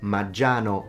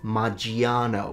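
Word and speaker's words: Maggiano's: It's Maggiano, not Maggiano. We don't pronounce the I.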